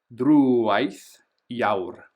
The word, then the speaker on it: Drúwaith Iaur: This one's tricky, so notice we've got the accent, so we're going to make that longer. Drúwaith Iaur.